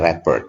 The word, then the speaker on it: rapport: bukan merupakan rapport building activity adalah, nah ini bacanya rapport ya, rapport building activity itu kegiatan yang digunakan untuk membangun ya kedekatan dengan siswa.